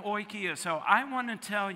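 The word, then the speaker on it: οἰκία: it's the greek word for home and it's pronounced oikia say oikia look at that i paid way too much for seminary you did that really well yeah oikia and that means what home it does mean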